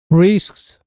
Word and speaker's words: risks: risks, risks. 역시 우리가 발음하던 risk와는 그 느낌이 많이 다른 것 같습니다.